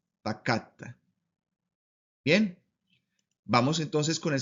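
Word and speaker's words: פָּקַדְתָּ: Por eso, esta palabra nos va a decir con el acento en la segunda radical, ahí debe ir la sílaba tónica o el acento, y nos va a decir entonces que se pronuncia pacatta, pacatta.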